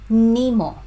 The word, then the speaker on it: Nimo: So pronunciation, Nimo. It's on the first syllable. So Nimo.